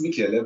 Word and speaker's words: Michaela: pronounced your name correctly it's Michaela but Michelle also works I have a question